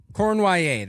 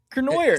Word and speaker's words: Cournoyer: Cournoyer. That's how it's pronounced.